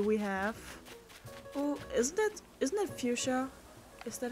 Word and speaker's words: Fuchsia: Oh, isn't that Fuchsia? Is that how you pronounce it? Yeah, it's Fuchsia.